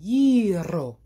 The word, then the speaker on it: gyro: I was watching a YouTube video on how to pronounce it, and one of the guys, he said, that's the only way we will accept it, gyro.